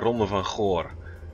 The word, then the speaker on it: Ronde van Goor: Yeah, it's the Ronde van Goor.